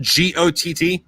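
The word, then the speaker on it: Gott: Yeah, it's spelled G-O-T-T, but it's pronounced got.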